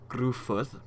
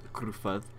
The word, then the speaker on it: Gruffudd: these really badly, but I believe that's pronounced Gruffudd, I believe, because 2 F's is just still F and 2 D's, but it's pronounced as TH. I remember that much, so I think it's Gruffudd.